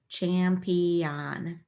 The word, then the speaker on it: champion: then on champion champion now I sounded it out like on but we get a little sloppy toward the end of this word and we say un here Champion but if you say it perfectly to yourself like champ on you'll you'll get that o in the right place where you need it when you're time